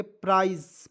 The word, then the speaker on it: prise: ठीक है, उसका देखिए यहाँ पे PRISE, तो इसे पढ़ेंगे प्राइज, प्राइज। ठीक है, एस का उच्चारण ज के रूप में करेंगे, क्या हो जाएगा दोस्तों प्राइज। उसके बाद देखिए यहाँ पे